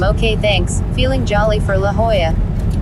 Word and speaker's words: La Jolla: We're headed to La Hoya. La Jola as it looks like Jesus says at Casey Kesm.